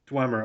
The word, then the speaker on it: Dwemer: Is it Dwemer or Dwemer? Dwemer.